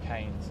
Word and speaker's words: Keynes: This is Keynes' approach, the Keynesian approach, I should say, Keynes. I always forget how to pronounce his name.